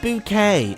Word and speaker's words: Bouquet: Actually, it's pronounced bouquet.